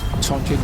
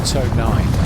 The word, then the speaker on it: Tonijn: The Tonijn, no, it's a Tonijn.